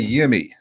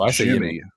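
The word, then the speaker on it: Yimi: The manager, Schneider, said that, now I say Yimmy. You say tomato, I say tomato, but it's pronounced Jimmy. Yeah. Oh, is it really? Apparently it's pronounced Jimmy with a J.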